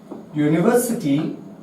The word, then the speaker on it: university: if there is university, so we will take its Hindi sound, university, university. So its pronunciation started from consonant and we will use here a university.